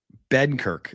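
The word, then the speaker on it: Benkert: Benkirk, as I believe they say it.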